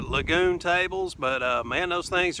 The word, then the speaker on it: Lagun: get one of those I think they pronounce it lagoon tables but man those